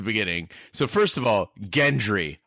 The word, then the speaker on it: Gendry: So first of all, Gendry, hard G.